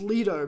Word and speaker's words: Lido: Yeah, and I'm like, I know it's Lido because before every movie they play Lido. yeah, they play that song. I'm like, I know it's that. Yeah. So that's how you know it's pronounced that way.